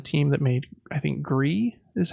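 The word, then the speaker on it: Gris: game from the team that made I think gree is how it's pronounced and it's a 2d kind of artsy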